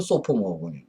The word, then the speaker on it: sophomore: 그 사포머라는 게 이게 영어 사전을 찾아보면은 참 재미나요. 왜 1학년은 프레시면 아주 신선하단 말이에요. 근데 2학년은 사포머, SOPHOMORE, 사포머라고 그러죠. 영국식 발음은 소포머, 사포머, 미국식 발음은 사포머라고 그러는데 이게 뭔가 하면 젠체하는, 건방진, 뭐 이런 뜻이 있어요.